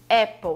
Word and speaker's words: apple: é a palavra Apple Apple você vê que começa com a letra A mas tem o som de E então esse simbolozinho aqui